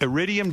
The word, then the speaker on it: Iridium: Iridium Jazz Club in Manhattan.